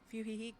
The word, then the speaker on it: Fuyuhiko: Anyway, what happened to Fuyuhiko?